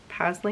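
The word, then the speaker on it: Pasley: only one paisley knits pastly knits i don't know how to pronounce it because i always thought that it was paisley but there's no i so it's p-a-s-l-e-y knits um and the dyer's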